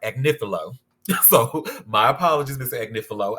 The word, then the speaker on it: Agnifilo: I've been calling him Mark Agnifilo. It's Mark Agnifilo.